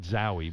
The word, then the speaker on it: Zowie: bowie so technically it's zowie bowie yeah wally if you're listening you were right i see so you call it zowie because it rhymes with bowie yeah because you remember